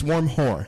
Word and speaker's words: Wormgoor: Offal, Mensah, Valenzuela, Vito Wormgoor, or however you pronounce that. Did we decide? I think it's Wormhoor. It's Wormhoor. Yeah. Wormhoor. Sure? Yes. Yeah. Okay.